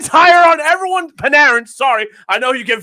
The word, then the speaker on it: Panarin: right who get paid to watch everybody yeah panin hire on everyone panarin sorry I know you get very butt hurt